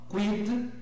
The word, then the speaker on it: quid: Q e U tem som de K. Em latim isso não acontece. Pronuncia-se tudo, o Q e o U separadamente. Então, tudo junto, mas bem distinto um som do outro. Então, quid, quad, que, quintus, né?